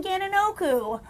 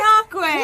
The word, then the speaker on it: Gananoque: Wait, Great Dane Barbecue's in Gananoku. I know that's not how you say it. I was going to say, Gananoque.